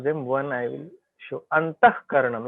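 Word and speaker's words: अन्तःकरणम्: When Visarga is followed by k and k, then Visarga will be pronounced as k. Like many places, out of them one I will show. Antahkaranam.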